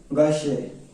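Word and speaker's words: Gaucher: ठीक है, एंड गाउचर disease, इसका काम है, इसे प्रोनाउंसिएशन कैसे करते हैं, गाशे, गाशे।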